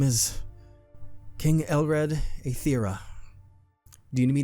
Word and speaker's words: Elred: Hello, my name is King Elred Aether. Do you need me to spell that for you? Yes, please. All right. Uh, it is Lred.